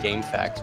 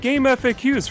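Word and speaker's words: GameFAQs: for Jojo on Dreamcast is that how you pronounce it I've been calling it game FAQs for like 20 years they both work they're both valid as far as I'm concerned I heard a lot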